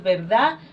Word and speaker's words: verdad: decir usted, pueden decir verdad. O sea, esa D al final es de la que en Guatemala, por ejemplo, se nos escapa bastante.